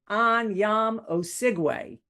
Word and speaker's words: Anyiam-Osigwe: Joining me from London is Anyam Oigu.